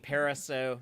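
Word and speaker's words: Parisot: the director uh Dean pariso that's how I know the t is silent but he was saying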